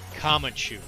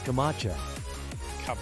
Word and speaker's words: Camacho: Terry Crews is President Kamachu.